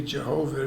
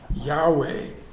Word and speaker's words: Yahweh: in these early languages so it wouldn't be jehovah would be yahweh and it's actually represented in ancient hebrew by four consonants and the vowels then are put in later so you can pronounce it but the original word